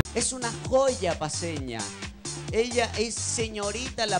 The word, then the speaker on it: Joya: Bueno, mira, en realidad mi nombre se escribe Joya, pero se pronuncia Joy.